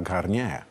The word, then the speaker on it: Garnier: A to słynne miejsce to oczywiście opera Garnier. Jaki akcent francuski. Garnier.